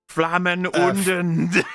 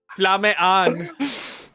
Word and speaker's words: Flamme an: Flammen unten. You said Flamme an.